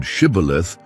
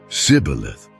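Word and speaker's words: Shibboleth: Only those who could correctly pronounce the word Shibth were allowed to pass. But the Ephraites, because of their accent, said Cibilith, and that was enough.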